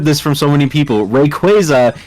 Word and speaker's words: Rayquaza: from so many people Rayquaza is a badass Fusion of Ray and quazar Rayquaza is you inserting a the sound of a bird squawking into the middle of the Pokemon's name but it hey it's